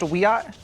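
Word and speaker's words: Wiyot: a member of the Wyatt Tribal Council in California and she joins us tonight Madison thanks for coming on hi thank you for having me it's pronounced a we OTT all right what bigger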